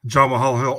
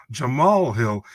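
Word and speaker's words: Jamahal Hill: said about Jamal Hill it's like John Mahal Hill oh no Jamal Hill because the the his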